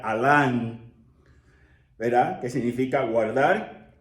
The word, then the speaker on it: almah: cubierta cubierto verdad Entonces Alan es la raíz se pronunciaría de esa forma Aunque dijimos a l m se pronuncia Alan verdad que significa guardar